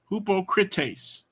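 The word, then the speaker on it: ὑποκριτής: see there's no h the H comes from the rough breathing so it's hupo hoopo critace hupo critace hupo hubo critace translated we get our Greek hippo crit hypocrite I'm I'm sorry I missed I forgot this is a Omicron not an Omega so it's this is a uh ah I'm a crime so he's an ah sound who who PA Korea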